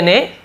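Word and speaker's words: know: second form रिप्ला तोते ने उत्तर दिया इट इज ट्रू यह सच है दैट कि आई नो द रीजन मैं कारण जानता हूं तो के और डब्लू साइलेंट रहता है नो आई नो मैं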